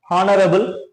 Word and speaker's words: honorable: is beginning with h you should not pronounce that so you should use the next next letter O So honor honorable honorable